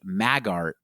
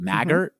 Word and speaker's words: Maggart: So, why don't we talk about who Fiona Apple McCaffy Magart is? Or is it Maggart would you say? How would you pronounce it? Magart. Yeah.